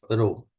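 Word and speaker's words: rho: Resistivity symbol is रो इसको हम pronounce कैसे करते हैं रो को? तो R H ओ रो नाउ क्रॉस मल्टीप्लाई अगर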